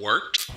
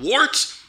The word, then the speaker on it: Wort: It is The Wort. Not wart, not fort, not short. The Wort.